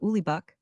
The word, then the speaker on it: Uligbuk: One was called Ulibbuk. This name is spelled as it should be pronounced. The correct spelling is Uligbuk, the other Augustus.